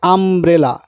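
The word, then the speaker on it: umbrella: এবার একটা উদাহরণ দেখুন, এখানে রয়েছে আমব্রেলা। আমব্রেলাতে দেখুন ইউটা আয়ের মতো উচ্চারণ হচ্ছে, আমব্রেলা আ, মানে প্রথমে ভাওয়েলের মতো উচ্চারণ হচ্ছে।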